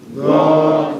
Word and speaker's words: Dha: The name of the letter is Dha. When it has fathatan, it's pronounced as Dhan. Dhan, heaviness in the mouth, making the mouth as spacious as possible when you pronounce it.